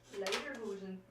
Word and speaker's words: Lederhosen: It's Legerhosen. No. Yes. Oh, he says. Oh, man. Lederhosen.